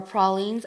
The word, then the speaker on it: pralines: and sally creamy original creamy pralines and or pralines if you say it correctly and i've seen